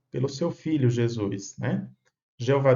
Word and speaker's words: Jeová: Jeová Deus é a pronúncia em português. No texto da Bíblia hebraica, encontramos Jehová Elohim, que é a pronúncia em hebraico.